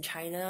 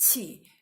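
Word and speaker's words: qi: born and raised in China and they don't call it C which is the Chinese pronunciation usually people just call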